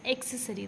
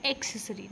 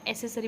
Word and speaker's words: accessory: e s o r y is pronounced as accessory the pronunciation is accessory not accessory most of time we misspell this we have